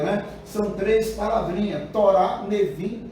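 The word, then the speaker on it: Nevi'im: São três palavrinhas, Torá, Nevim e Nebrim, ou Nevim, ou Ketuvim, tá? Que alguns colocam lá, na hora que vai colocar lá, na escrita, por exemplo, coloca Nebrim, mas lê-se Nevim, tá?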